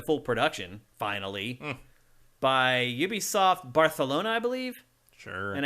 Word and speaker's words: Barcelona: production finally by Ubisoft Barcelona I believe sure and I hate saying Barcelona like that but apparently that's the correct way to say it so um so that